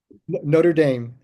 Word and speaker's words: Notre Dame: So Notre Dame. Didn't think to check that. Yeah. Notre Dame. The American pronunciation is Notre Dame.